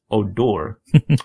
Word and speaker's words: Odor: by the second baseman, Odor, pronounced Odor.